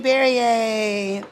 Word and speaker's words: Berrier: I am Berrier, rhymes with Perrier, those that have never known how to say my last name.